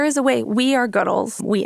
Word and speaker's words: Goodles: we are goodles we emphasize the good in noodles good and so that emphasis on good is how we say it and everyone at the company says it so if you ever ask me how do you say it my answer is we say goodles because we emphasize the gutter and noodles gter but honestly say it